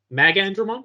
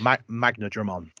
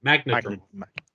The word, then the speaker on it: Magnadramon: Magandramon? Is that how you say it in English? Magnadramon. That's it. Magnadramon.